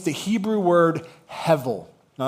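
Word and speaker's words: הֶבֶל: And it's the Hebrew word hevel. All right, say it with me, class. Hevel. Okay? It's pronounced h e or it's it's it's looks like h e b e l, but it's pronounced hevel.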